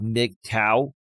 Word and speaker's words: MGTOW: And back in 2017 and 2018, there was this big movement for men called MGTOW, MGTOW. It's pronounced MGTOW, men going their own way.